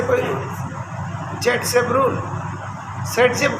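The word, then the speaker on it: Зайцев: एस से कोई rule, Z सेप rule, set जेब कहते हैं उसको, प्रोनाउंसिएशन करते हैं और लिखता है जेड सेप।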